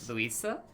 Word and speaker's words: Luisa: Hello, Lisa? Lisa? Luisa, I believe is how that's pronounced.